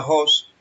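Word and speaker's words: ὅς: El cual viene de la G3739, se pronuncia Jos, y significa quién, cuál, qué, cuyo, cosa, fruto.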